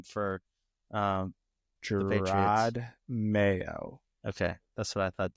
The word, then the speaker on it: Mayo: his name for um Mayo okay that's what I thought too forever Peter keeps saying mayow may he does it on purpose like he actually thinks that's how it's pronounced I'm like really maybe